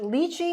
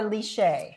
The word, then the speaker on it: lychee: So I want to know, is it lychee or lychee? Is it lychee? I would say lychee, but depends on where you Lychee are.